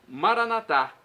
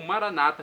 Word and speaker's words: Maranata: e agora do aramaico Maranata como dizemos nós católicos com a tônica na última sílaba o Maranata com a tônica na penúltima sílaba como dizem nossos irmãos separados os evangélicos ou protestantes não importa pronúncia o